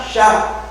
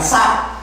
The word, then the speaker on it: Syak: Bacanya Syak, jangan Sak.